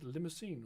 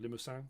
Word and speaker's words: Limousin: But we have got brown Swiss, Holsteins, Angus, and Limousin, or Limousin, depends how you say it, or where you're from.